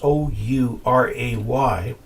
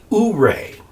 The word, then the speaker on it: Ouray: Ouray, Colorado is just south of us, Ouray. And there's a Ouray in Utah, and there they call it Ouray.